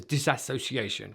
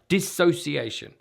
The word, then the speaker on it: dissociation: misunderstanding dissociation okay and often this is mispronounced as disassociation this is dissociation and I'm going to explore